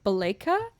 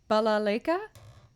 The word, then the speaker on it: balalaika: to play if i've ever tried the balayka i don't know if that's how to say it actually yeah that's totally wrong balalaika i don't know if